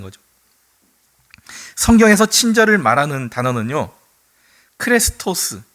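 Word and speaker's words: χρηστός: 크레스토에 우리 뭐 자동차 중에 크레도스라는 자동차가 있었잖아요. 발음이 좀 비슷합니다.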